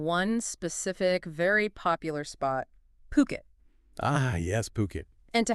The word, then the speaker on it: Phuket: today really is to unpack why why is Puket's luxury property market attracting so much foreign interest right now. We're leaning on the insights from Ocean Worldwide. And just to be clear for everyone listening, it's pronounced Puket.